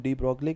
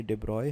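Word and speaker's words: de Broglie: अब हम आ जाते हैं डिब्रॉय पे, जिसको हम डी ब्रॉगली कहते हैं। वैसे वो गलत प्रोनाउंसिएशन है, ये डिब्रॉय है।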